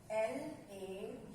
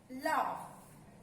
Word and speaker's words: laugh: L-A-U-G-H. We pronounce it laugh. The pronunciation of this word is laugh. Laugh. G-H, give the sound of F.